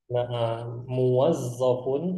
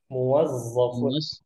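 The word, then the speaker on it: مُوَظَّف: itu apa muwazzofun muofunam muwazofun ya mim wau kemudian znya tasdid huruf Fa kemudian huruf Fa muwazofun mu muwazofun bisa itu Eh Za ya Za Ustaz pakai Z Zo muwaz muwazofun muazfun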